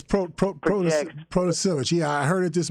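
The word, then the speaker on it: Protasiewicz: Democratic-backed Janet, and I don't know how to pronounce her last name, Janet will win Wisconsin Supreme Court election. Yeah, it's Protasevich.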